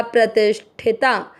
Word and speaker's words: प्रतिष्ठिता: फिर प्र, प्रति, मात्रा के अंदर आधा षटकोण वाला ती के साथ करेंगे प्रतिष्ठ, ठ पे ई के मात्रा प्रतिष्ठिता।